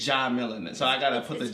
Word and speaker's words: Djamila: It's pronunciation's gonna take some time. So no, be but think about it. Real monsters. Jah-Mee-Lah. Djamila.